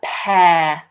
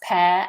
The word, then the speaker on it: pear: Next, we have a pear. Now, Ricardo, you said, can you pronounce pear and pear? They are homophones. They sound exactly the same.